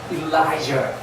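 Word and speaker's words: Elijah: 혹시 엘리야를 영어로 뭐라고 발음하는지 아십니까? 아니, 뭐라고 스글스글 나오는데 이게 강세가 있어요. 일라이저.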